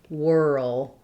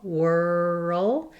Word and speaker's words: whirl: Notice how there's almost a sound between the R and the L, whirl, and actually I find it very helpful to think of it almost as being two syllables rather than just whirl. It's difficult to go from that R to the L, and so we naturally have a little bit of an sound here, like in good or book.